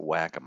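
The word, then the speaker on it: Wacom: stuff like that and yes that's how you pronounce It Whack am I called now I found out okay what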